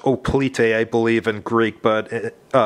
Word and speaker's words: hoplite: it's unpunched it's got some line drawings of hoplites and stuff on the counters actually let's pronounce oh plite i believe in greek but everywhere else in the world that's pronounced haploid and a lot of informational markers and stuff